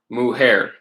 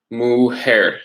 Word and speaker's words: mujer: Mujer. And think about what letter in Spanish makes an H sound.